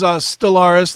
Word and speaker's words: Stellvris: The band, of course, is Stellaris. That is spelled St L V R I S.